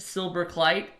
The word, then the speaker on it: Silberkleit: know the benefactor of the trust fund silver kite and wow wow you actually pronounced it correctly that never that almost never